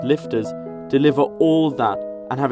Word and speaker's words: LFTR: well the technology exists liquid fluoride thorium reactors pronounced lifters deliver all that and